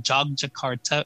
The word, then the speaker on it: Yogyakarta: airline code is jog so they call it jog Jakarta it's it's spelled Yogi yakarta y Yogyakarta and I remember we